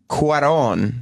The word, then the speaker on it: Cuarón: Eric Weber of NECN writes, as Cuarón, that's how you say his name, the director, as Cuarón spells out in his intro, life in space is impossible.